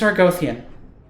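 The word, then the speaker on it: Argothian: block uh our gothian I was wondering how to pronounce that I wanted to say Argonian or Argo or uh well anyway it's our gothian so what else have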